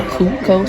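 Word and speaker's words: Cuco: I think it's pronounced a Cutco special, spelled C-U-C-O.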